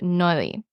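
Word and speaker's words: Noilly: was created by Joseph noi it's probably no I don't think you pronounce two L's when they're next to each other Joseph no let's see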